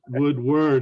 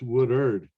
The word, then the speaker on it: Woodard: It's not Woodward, it's Woodard.